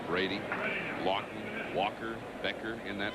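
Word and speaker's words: Brede: Brent Brady. He likes to pronounce it Brady.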